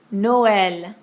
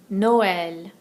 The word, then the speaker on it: Noël: It'll go over an I or an E, and it tells us to pronounce a vowel separately from the one before it. Haïti, Noël, haïr. Haïti, Noël, haïr.